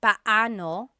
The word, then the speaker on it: paano: It's technically paano. Paano. When there are two vowels together, you say them separately. Paano. But when speaking quickly, Filipinos just say paano.